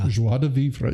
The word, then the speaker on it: joie de vivre: I'm going to try a pronunciation. Okay. Joie de vivre. Joie de vivre.